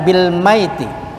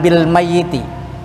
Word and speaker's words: bil maiti: Ini kemarin saya sudah jelaskan, kita bacanya bil maiti, bukan bil mayyiti ya. Sebab kalau kita baca siddah itu orang yang akan meninggal dunia.